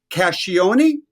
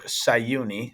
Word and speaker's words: Csahiouni: I say this but casion it's very close uh well Kevin thanks for having me it's actually sauni sauni the see is silent uh but thanks a